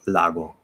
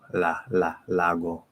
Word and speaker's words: lago: But the L in Spanish is more like this. And I can't speak for everybody. Like, you know, maybe in your particular dialect it's not like that, but especially compared to English, it's more straight up. So like if I say I don't know, lago, lago, veo un lago. Where in English it's flatter. It doesn't go straight up.